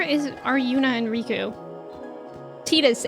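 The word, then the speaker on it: Tidus: Tetus. It is the Okinawan pronunciation of his name.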